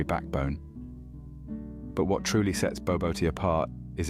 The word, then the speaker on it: Bobotie: Bobotie, pronounced as barbor tea, is a spiced minced meat